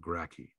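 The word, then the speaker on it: Gracchi: in history books we always refer to the gracky in the plural okay that's how you pronounce that gracky obviously with no love of the senate uh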